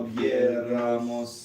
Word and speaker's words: hubiéramos: No habríamos Alcanzado límites, si no hubiéramos, Нет, si no hubiéramos oído la voz, así es. Как-то надо si no hubiéramos oído. Вот так лучше. Si no hubiéramos Hubiéramos, oído, на «е» ударение.